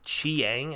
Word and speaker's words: Chiang: Cliff Chiang, I believe is how you pronounce his last name, did everything on this book.